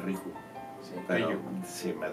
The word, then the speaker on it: Riju: Ryu. Bueno, Ryu, güey. Ajá, Ryu. ¿Eh? Ryu, sí. No, pero es que pues la pronunciación es Riju.